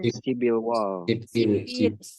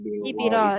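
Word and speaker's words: 십일월: 11 kan sipil. Sibil wall. Sipirol. Jadi realnya tuh dinaikkan.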